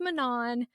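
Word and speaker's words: Manon: had to be like it's pronounced Manan and I said roses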